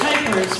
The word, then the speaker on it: Kuypers: It's Kuypers, rhymes with Kuiper.